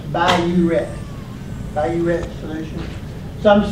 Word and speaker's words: Biuret: I don't think you say BUR, it's just B-I-R. I reckon that big R is the ret part, but it's pronounced Biuret.